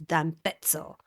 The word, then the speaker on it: Cortina d'Ampezzo: So it's d'Ampezzo. I forgot, that's how you're supposed to say, like pizza and pezzo. That's how you say it.